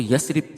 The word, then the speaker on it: یثرب: کا نام تھا یثرب، اور یہ یثرب لفظ نہیں ہوتا، اس کو یثرب صحیح تلفظ کے ساتھ پڑھا جائے گا۔